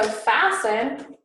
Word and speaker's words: fasten: this t right here is silent all right so fasten to remember the t you could say fasten um so it's the word fast with an ian at the end and then also soft with an e e n at the end of the word so um just to